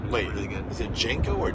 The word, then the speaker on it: Django: Is it Django or Django? D is silent.